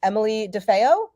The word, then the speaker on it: DeFeo: Athlete, we have Granite Games semifinalist Emily DeFeo. Yes, that's how you say it.